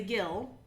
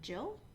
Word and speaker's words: gill: of a pint and the gill or jill it's it's spelled with a g but we know it could be it could be gil which is a quarter